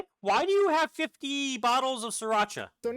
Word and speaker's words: Sriracha: Before they can pronounce Sriracha, they call call it sauce or rooster sauce. So it is Sriracha. It is Sri I've been calling it right the whole time then. It is Sriracha.